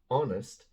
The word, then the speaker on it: honest: envelope the envelope an honest answer the honest answer wait wait wait I know what you're thinking that's a consonant it's not pronounced honest begins with an o sound oh like our you